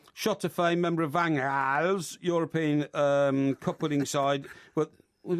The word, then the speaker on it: Van Gaal: No, it's Van... G is pronounced with an H. No, yeah, but you ignore the G.